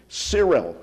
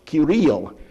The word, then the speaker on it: Cyril: of the monks was Cyril, or as it should be pronounced, Kirill.